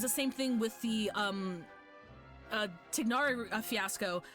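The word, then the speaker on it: Tighnari: And it was the same thing with the Tignari fiasco. I think it's Tignari. I think it's Tignari.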